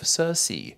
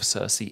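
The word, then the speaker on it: Sersi: her that being cersei different spelling but same pronunciation in fact wikipedia informs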